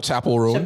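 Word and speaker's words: Chappell Roan: Chapel Ron I think is how you pronounce Chapel.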